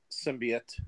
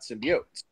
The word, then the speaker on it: symbiote: world knows that it's symbiote, not symbiotes. And how do we know it? Because one of the early 90s Spider-Man cartoons, when they introduced Venom, said symbiotes, and they made a whole point of pronouncing it that way.